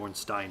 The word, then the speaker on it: Ornstein: Dark Souls series, is the Ornstein or it's actually Ornstein, to be entirely honest, if you look at the way it's spelled. If you know, like, the Germanic spellings and things. Anyway, it's Ornstein, and, like, there's such